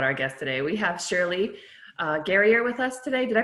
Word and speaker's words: Shirley Gerrior: We have Shirley Gerrior with us today. Did I pronounce that right, Shirley?